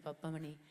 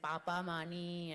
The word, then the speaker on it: Pappamani: And also when you get a pronunciation wrong 8 times, Mahalakshmi Pappamani, it takes you a while. Now I can say it really well, Mahalakshmi Pappamani. But in the beginning I was saying Papa Mani and all sorts of things.